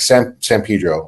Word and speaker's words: San Pedro: When in the city we grew up in, like San Pedro, or, you know, so people are like, why don't you say San Pedro?